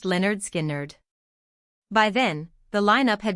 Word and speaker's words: Lynyrd Skynyrd: Lynyrd Skynyrd's breakthrough came with their 1973 debut album, famously titled Pronounced Leh-nerd Skin-nerd.